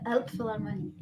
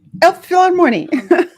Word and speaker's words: Elbphilharmonie: Hall, the Kennedy Center, and could you please pronounce that word for me? Yeah, Elbphilharmonie. Elbphilharmonie in Hamburg.